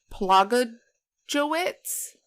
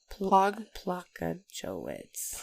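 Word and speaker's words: Plogojowitz: It's P L O G O J O W I T Z. So Plogoj witz. Plogojwitz. Plogojwitz. Maybe.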